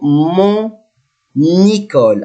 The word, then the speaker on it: mon école: So, mon école, I must pronounce letter N here because I have vowel.